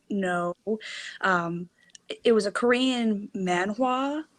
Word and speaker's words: manhwa: It was a Korean manhwa, not manga, manhwa, I think. It's manhwa.